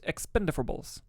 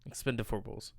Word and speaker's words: Expendables: budget upsell battles baby you know what I've been saying Expendables it's expenditables Expendables damn saying it wrong coming in 10th was